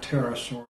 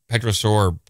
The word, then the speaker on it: pterosaur: But obviously, this is an extant pterosaur. And we have reasons. Pterosaur, my bad. I was calling him petrosaur, pronouncing the P, the silent P, big no-no in dinosaurology.